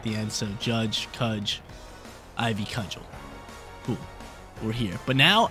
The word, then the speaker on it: Ivy Cudgel: Ivy, cudgel. I think that's how you pronounce it.